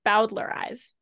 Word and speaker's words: bowdlerize: so it's let's see bowdlerize bowdlerize okay so b-o-w-d-l-e-r-i-z-e I pronounce it thinking of Bowser from the Mario game so about the rise